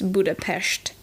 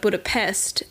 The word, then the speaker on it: Budapest: The S letter is pronounced as an SH. So in Hungarian, it would be perhaps Budapest. But Budapest is how we say it in English.